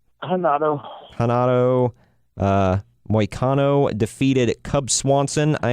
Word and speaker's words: Renato: Is it Renato or Henato? Hanato.